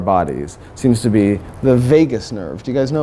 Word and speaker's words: vagus: instance, somebody was like, I think it's vagus with like a hard A, not vagus.